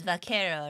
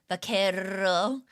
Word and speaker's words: vaquero: Yeah, it's vaquero, right?